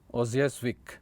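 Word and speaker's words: Łojasiewicz: Okay, so it's like L is silent. Okay, so Ozjazvik. Okay, that's what it's called.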